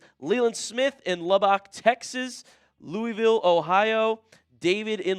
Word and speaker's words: Lubbock: Pronounced Lubbock, LOL. I give you an E for effort, friend. Thank you, Leland Smith. All right. I'm new to all the Texas towns. Lubbock.